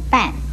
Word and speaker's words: 片: 墙这个字又可以念半，国语注音是波按半，四声半。